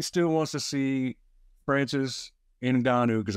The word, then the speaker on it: Ngannou: Because everybody still wants to see Francis Ngannou, because I hear a lot of people mispronounce his name. Ngannou is how you pronounce it.